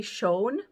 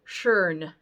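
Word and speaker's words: schön: R in there so if you're gonna butcher it don't say shown say shern like add it really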